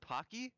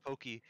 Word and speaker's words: Pocky: where is pocky wait your name is pronounced pocky yes what did you think pokey everyone why does everyone call them pokey it's pocky name oh my gosh i